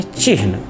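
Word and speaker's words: चिह्न: शुद्ध उच्चारण होता है चिन्ह, आधा हा पूरा ना, लेकिन प्रमादवश हम उसे चिन्ह बोलते हैं, चिन्ह लिखते हैं।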